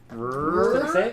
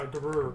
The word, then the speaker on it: Garur: Grrr. No, Garur.